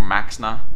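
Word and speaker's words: Maexxna: is going to be the first one or Maxa uh which was the the five Mana 28 I want to say with the emperor Cobra ability uh so loab makes it's spelled maesa it's pronounced Maxa I need to remember this loab Max are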